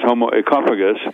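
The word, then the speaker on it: Homo oecophagus: as I'm concerned is homo esophagus esophagus as in economy ecology Etc meaning the Greek word for home and we're destroying our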